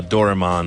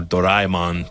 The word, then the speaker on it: Doraemon: in the world uh doraman or doraemon depending on how you want to pronounce it he is less known